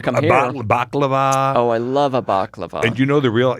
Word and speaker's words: baklava: she goes the what baklava yeah it was she goes no it's bat lawa oh okay I'm sorry